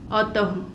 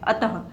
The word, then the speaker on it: अतः: एक और देखिए, अतः, अतः विसर्ग की जगह पे हम किसका उच्चारण कर रहे हैं, ह व्यंजन का उच्चारण कर रहे हैं, अतः।